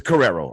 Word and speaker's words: Carrero: We have good old Carrero over here, anyway, it's Carrero, all right? Some of y'all couldn't pronounce that goddamn name.